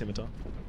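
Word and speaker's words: scimitar: I ever want a skar I know it's pronounced simitar r s I've got two Wings Spears so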